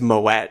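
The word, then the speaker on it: Moët: please tell me you looked up the proper pronunciation of my way yeah I knew I knew that it was Moet like oh like you did I'm not yes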